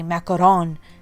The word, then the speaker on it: macaron: Sorry if I'm butchering the way you say macaroon. I tried to Google how you pronounce it, and it was saying that Americans say macaroon, but like French, they say macaron.